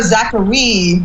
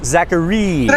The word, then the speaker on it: Zachareee: you pronounce it liz is it zachary the spelling is a little interesting we just go zachary so yeah that's that's it three e's zachary okay just want to